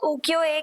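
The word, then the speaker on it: 浮世絵: को लेकर के जिन्हें उकियो के नाम से जाना जाता था और स्पेशली इन्हें प्रॉपर्ली अगर प्रोनाउंस किया जाए तो उकियो एए के नाम से जाना जाता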